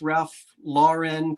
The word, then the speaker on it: Ralph Lauren: I love you pronounce Ralph Lauren correctly or whatever.